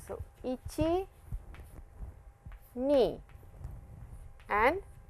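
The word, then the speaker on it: いち: So ichi knee and sun please I'll draw it once again for you.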